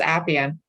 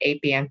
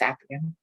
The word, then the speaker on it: Appian: Yes, it's Appian. We kind of don't like it when people go Appian, but it's Appian.